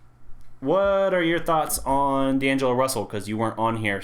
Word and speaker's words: D'Angelo Russell: D'Angelo Russell, yeah.